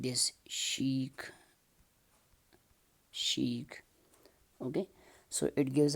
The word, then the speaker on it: chic: it's I think a French word it just pronounced a chic like this chic sheet okay so it gives us the sound